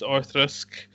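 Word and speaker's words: Auchroisk: u c h r o i s and pronounce orisk apparently I would have said orisk but what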